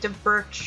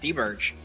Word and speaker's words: D-Birch: I was gonna be like De Birch or something like that, but I don't. That's probably not how you pronounce it. I'm sorry. I'm sorry. No, that's actually his name. Did I pronounce it right? Yeah, D-Birch.